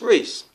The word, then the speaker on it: Reese: Reese could be a name, could be spelled with R-E-E-C-E or R-E-I-C. It's still pronounced Reese. Or R-E-E-S-E, some of you pronounce it.